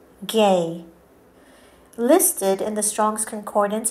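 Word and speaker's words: γῆ: The word spelt G-E is pronounced gay.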